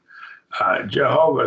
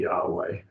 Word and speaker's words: Yahweh: Jehovah is probably not the correct pronunciation. It's probably Yahweh.